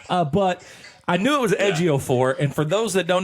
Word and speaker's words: Ejiofor: So I watched how to say it, and then I phonetically spelt it out. But I knew it was Ejiofor, and for those that don't know who that